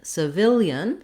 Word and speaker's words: civilian: end of the syllable notice how in civil i'm long on this first syllable and in civilian we still have the s sound but now this letter i says a vowel schwa the uh sound that's because it's an unstressed first syllable the vowel is reduced i can say it